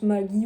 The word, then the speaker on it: Maggi: Donc on prononce Maggi ou Maggi comme vous voulez.